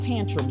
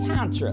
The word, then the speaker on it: Tantra: So my babies were calling it tantrum sex, but it's pronounced Tantra.